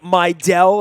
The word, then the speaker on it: Mejdal: me your soliloquy on Sig my del and that is the proper pronunciation for a name that has an interesting spelling there's a whole Scandinavian background the Sigma del there's a